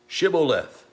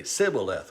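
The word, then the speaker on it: shibboleth: would say then say shiboleth and the aphromites couldn't pronounce that they didn't pronounce it the same way they would say sybileth without the h in there and it's kind of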